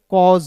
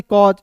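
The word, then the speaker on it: caused: के रूप में करेंगे और ए सी का उच्चारण यहां पे ज के रूप में करेंगे कॉज हो गया हो गया ना जी कॉज उसी प्रकार देखिए यहां पे डी ए यू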